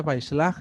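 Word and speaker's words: Vayishlach: Entonces se pronuncia Vaishlach y se escribe todo junto.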